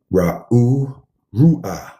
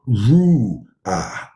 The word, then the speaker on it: Ruach: Ru'ah. That's how you say it. Ru'ah. Right? Ruach. Right? It's not this. This is all from paganism.